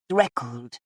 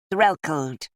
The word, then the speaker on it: Threlkeld: "It's not said like that," she accused him. "You're obviously an incomer. It should be Threlkeld. You have to say the first L."